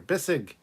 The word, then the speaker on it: Bissig: Bessig is here. Bissig. I always say it wrong.